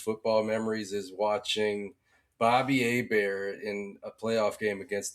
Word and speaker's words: Hebert: Bobby Hebert, man, he's one of the best uh spelled like Herbert, like like uh Justin Herbert, but it's Hebert down here in New Orleans, and well, he's actually from the bayou.